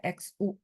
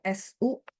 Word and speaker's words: xu: Nah, kalau J, Q, X, dan Y, empat ini ketemu U, dia akan dibaca I yang mulutnya dibuletin. Ya, jadi sehingga XU itu bacanya Xu. Mulutnya harus monyong. Kalau enggak, dia akan bunyinya ke sini. Su.